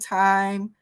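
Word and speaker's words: thyme: veggie nacho I mentioned time uh and that's spelled t h y m e it's time seasoning a lot of times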